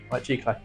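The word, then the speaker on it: giclée: question to already ask how do you pronounce g g clay g g clay G oh my God thank you g clay and what is it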